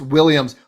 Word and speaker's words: Williams: say one last thing if you pronounce williams will yums like yummy then yeah maybe it's two syllables but saying william is